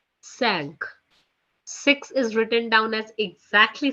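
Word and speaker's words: cinq: as c i n q which is being pronounced as sank sank is written down as exactly same what we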